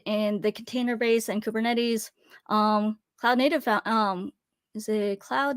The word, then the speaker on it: Kubernetes: And also, I pronounce it Kubernetes. That is the way I've heard it pronounced.